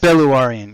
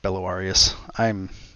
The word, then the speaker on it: Belluarian: Belluarian. And not an S. Belluarian. Yeah, sorry. It's Belluarian, not Belluarius.